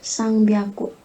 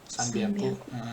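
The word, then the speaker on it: 三百: bacanya apa Yuvita? 300 sang biaku. Sanbiaku.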